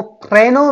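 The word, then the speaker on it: prénom: name, last name, मो प्रेनो means first name, सम्मुख प्रेनो, या प्रेनो, ओके प्रेनो, हाँ प्रेनो, प्रेनो आप इसको र की तरह से प्रोनाउंस कीजिए, अभी वो जो मेन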